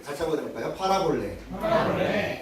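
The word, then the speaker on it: παραβολή: 파라볼레. 예, 같이 한번 해볼까요? 파라볼레. 예, 뭐 그런 뜻은 아니지만 여기에 있는 물컵을 팔아볼까? 팔아볼래. 볼까요? 같이 합니다. 팔아볼래. 예, 무엇을 판다는 뜻이 아니라 발음이 그렇다는 거예요.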